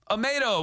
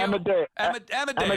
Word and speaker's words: Amadeo: Amado is calling from, or how do you say your name? Amadeo? Amadeo. Sorry. Amadeo.